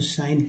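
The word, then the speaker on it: sign: Jing encouraging S आई देखिए एस आई जी एन में जो जी है या साइलेंट है तो शाइन पढ़ते हैं जी साइलेंट है इको हो गया बार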